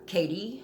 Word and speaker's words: Cady: Katie Herons, her name is spelled Cady, who has lived in Africa with